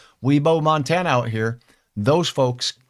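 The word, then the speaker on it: Wibaux: from my friends in weebo Montana spelled ybox but really trust me you pronounce it weebo weeo Montana out here those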